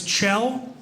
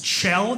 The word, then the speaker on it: Kjell: My name is Kjell. It's Kjell. It's Norwegian. Spelled K-J-E-L-L. Pronounced Kjell.